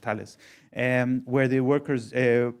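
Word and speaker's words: Thales: in the French company Tales or The I think it's pronounced Talis.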